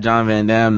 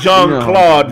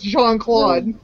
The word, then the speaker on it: Jean-Claude: It's not John Van Dam. Yeah, that one, yeah. I gotta give you that one. It's Jean-Claude Van Damme. Yeah, it's Jean-Claude. He's Jean-Claude French.